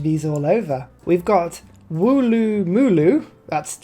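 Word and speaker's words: Woolloomooloo: We've got Wooloo Mooloo. That's how you pronounce that one.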